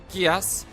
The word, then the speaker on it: Geass: Could this be a Gias?